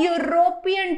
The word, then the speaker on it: European: they say some words don't start with vowel sound, but In these cases, their beginning sound that is pronounced like U is actually a consonant sound which requires an article a in front of the same.